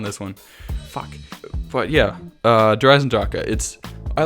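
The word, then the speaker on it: Der Eisendrache: Number 4, Dreisendrache. Dreisendrache. That's not how you pronounce it.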